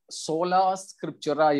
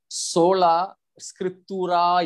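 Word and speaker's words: Sola Scriptura: ആ ലത്തീൻ ഭാഷയുടെ ശരിയായ ഉച്ചാരണം വരുന്നത് സോള സ്ക്രിപ്റ്റൂറ എന്നാണ്.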